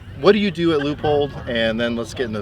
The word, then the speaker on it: Leupold: guess let's start by saying how do you pronounce the name of the company so it's loopholed like if you would say you know le